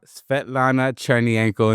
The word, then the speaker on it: Svetlana Chernienko: We got Svetlana Chernienko in the building.